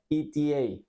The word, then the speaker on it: ETA: en estas palabras Entonces esto se pronuncia eta eta te pongo AC un